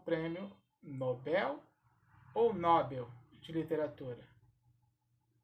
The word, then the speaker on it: Nobel: eu vou pronunciar o nobel ou nobel esta palavra é oxítona portanto a sílaba tônica será a última assim como a palavra